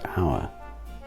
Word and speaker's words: hour: street correct and then if we put an h in the front for a unit of time it's still pronounced hour yes then why bother